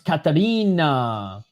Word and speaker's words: Ekaterina: I don't want to be that guy, but I think it's pronounced Ekaterina, just with an E in front of it. I got you, Ekaterina. So it's a silent E.